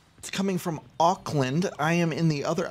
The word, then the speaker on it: Auckland: you could ever visit Oakland facts but not Auckland uh am I pronouncing that correctly Auckland yeah okay cool I've always wanted to visit